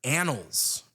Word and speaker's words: annals: And then the word annals. As in also doesn't sound like it's spelled.